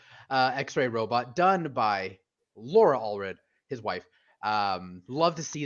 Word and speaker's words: Allred: I always get his name wrong. Michael Allred.